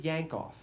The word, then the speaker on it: Yankoff: Yankoff. This is his real name. And there are people that tell me that it's pronounced Yankoff, but we did not call him that. We called him Mr. Yankoff.